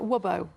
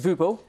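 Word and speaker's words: Wubbo: And and I'm guessing that Wubo is maybe is that it's actually Dutch. It's pronounced Vubo.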